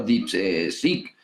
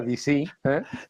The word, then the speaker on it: DeepSeek: Lo ha pronunciado como es, DeepSeek. Si lo haces como lo ha hecho la de Televisión Española, que ha dicho que era DC, DC. como AC/DC, ¿entiendes?